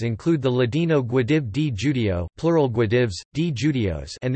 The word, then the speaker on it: Jude: The German word Jude is pronounced Judi, the corresponding adjective Judish, J-Y-D, Jewish, is the origin of the word.